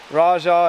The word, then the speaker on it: Raj: Like, right here, sleeping under the stars last night with Kelly, Raja, and Roy. Raj. I keep wanting to call him Raja because that's how it's spelled.